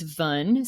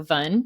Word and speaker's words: Van: Her name is Vun. So it's spelled VAN, but it's pronounced like sun. So Vun.